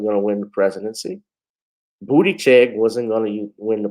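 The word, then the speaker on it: Buttigieg: damn sure wasn't going to win the presidency booty check wasn't going to win the presidency yeah i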